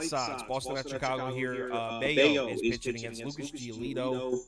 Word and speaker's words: Bello: So Brian Bayo has become a bet on pitcher for me. He's pitching so well that I've actually started pronouncing his name correctly. I was saying Bello forever.